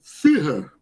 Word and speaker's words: Führer: Quando vocês verem essa palavrinha aqui, ó, pronunciem Führer, tá? Esse U com uma trema aqui em cima, a palavra alemã, quer dizer líder, chefe, Führer.